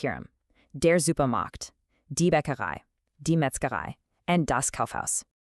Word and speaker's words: Bäckerei: Die Bäckerei. The key part here is that I sound at the end. It sounds just like the English word I.